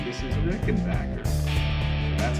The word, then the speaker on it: Rickenbacker: I said, thanks for the Rickenbacker book. And she says, oh, it's Rickenbacker.